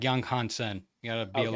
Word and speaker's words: Yang Hansen: So it's Yang Hansen. I think it's like Young Hansen.